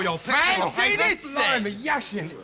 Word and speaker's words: Yashin: Yashin! Is that how you say it? Yashin is right!